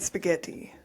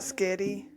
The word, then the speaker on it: spaghetti: You should say library and spaghetti. What are Some people call it sketty.